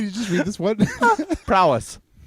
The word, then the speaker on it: prowess: i'm saying it right put the emphasis on the front on the first part hunter's prowl s there's no l in it you're putting an l